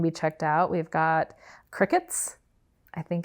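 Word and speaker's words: Cricut: a lot of years I pronounced that cry cut that right nope it's not I'm willing to be embarrassed for this podcast I will admit that it is not spelled like Cricket no and I thought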